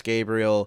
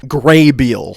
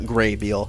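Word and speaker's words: Grabeel: to past Alec um it's pronounced grabiel you dumb idiot yeah when I was a kid I thought they were saying Gabriel not Graybill I wasn't listening hard enough so what I thought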